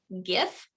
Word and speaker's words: GIF: I kind of think GIF because GIF is GIF, right? Well, see, I always think of peanut butter, and that's how I say GIF, like the GIF, but I don't Me know.